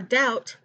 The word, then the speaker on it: doubt: the k is silent for doubt the b is silent for ghastly the h